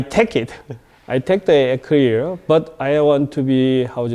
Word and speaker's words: EKLEER: I take the EKLEER, but I want to be, is a more European sound. We like to starting to the accent on the top of the E.